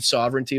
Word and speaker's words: sovereignty: of my life, I've been saying sovereignty wrong. So thank you for pointing that out. I really do appreciate that. So, because I've been adding an extra syllable, I guess.